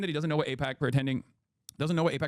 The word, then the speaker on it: AIPAC: To pretend that he doesn't know what AIPAC pretending it could be pronounced IPAC is just insulting anyone who follows this channel.